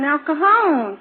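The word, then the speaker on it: El Cajon: I live in Elcohone, California. How do you spell that? E L C A J O N. How long have you lived in Elon? I've lived there. No, that's not the way.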